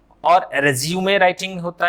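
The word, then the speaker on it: résumé: बट जब ये noun है, नाउन है ना, नाउन होगा तो इसकी प्रोनाउंसिएशन चेंज हो जाती है, मतलब है ना रेज्यूमे, तब इसे क्या बोलेंगे, रेज्यूमे।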